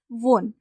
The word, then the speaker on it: won: Third form, यहाँ पे विन base verb है, इसकी थर्ड फॉर्म है वोन। वुड हैव वोन, एक्चुअली इसे वन कहते हैं, वुड हैव वन। ठीक है, इसका प्रोनाउंसिएशन है वन।